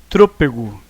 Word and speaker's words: trôpego: tá aqui tá E trôpego temos uma proparoxítona tá e pronto abre se você quer trôpego olha o acento aqui na antepenúltima sílaba mais forte é a questão que